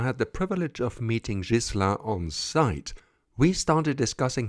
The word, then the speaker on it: Ghislain: out some pronunciation issues hello gizan I hope Gan is the right way to pronounce it it's jisa jisa but I mean almost 10 years in